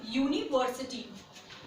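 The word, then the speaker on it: university: अब जो यू हमारा, वैसे तो यू वॉबल है, बट अगर हम इसको जब प्रोनाउंशिएट करेंगे तो ये या से बनता है. इसका प्रोनाउंसिएशन किससे स्टार्ट होगा? हिंदी के व्यंजन से स्टार्ट होगा.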